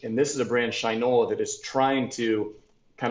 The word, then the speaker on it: Shinola: The next one is a brand out of the U.S., out of Detroit, called Shinola. Oh, that's how you pronounce it.